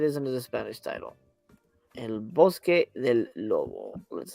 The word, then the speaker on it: El Bosque del Lobo: title sometimes it is under the Spanish title El Bosque del Lobo let's say that's exactly how I pronounced it you nailed it absolutely oh it